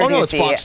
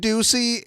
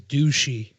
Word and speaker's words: Ducey: And I commonly mispronounce their name as douchey.